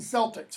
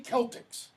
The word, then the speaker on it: Celtics: You know, the Boston Celtics, for example, it's mispronounced. Should be Celtics. Okay? The C is a hard k.